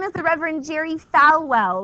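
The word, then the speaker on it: Falwell: is the Reverend Jerry fwell which is spelled like it sounds f w El the Reverend Jerry fwell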